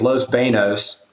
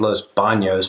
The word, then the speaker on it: Los Banos: grew up duck hunting and then it was Los Banos which you could also say is Los Banos but that's not the correct way to say